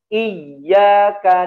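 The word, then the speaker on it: إِيَّاكَ: Nah, ini keseringan terjadi ya dalam membaca surah Al-Fatihah ya, dimatikan bunyi ya-nya. Iyyaka na'budu wa tidak boleh ya, harus dialirkan.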